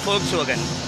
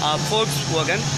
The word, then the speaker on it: Volkswagen: This is ஃபோக்ஸ் வோகன். ஆஸ் இது last time நான் சொன்ன மாதிரி என்ன, இட்ஸ் ப்ரொனவுன்ஸ்ட் ஆஸ் ஃபோக்ஸ் வோகன்.